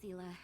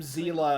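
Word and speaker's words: Seele: Hey, Zila and Zo's guest. Yeah, they pronounced her name Zela. Uh uh which is correct because that's how uh the that's how that word is uh pronounced in German and not like sale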